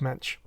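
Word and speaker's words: Moench: chuck dixon interviews and he talked about doug mensch so he worked with the guy i'll take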